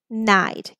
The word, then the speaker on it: knight: slide Glide fried and Knight K is silent here and then we have